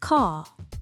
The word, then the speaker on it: car: Brits generally don't pronounce the R after a vowel unless it is followed by another vowel. For example, the word car sounds like car.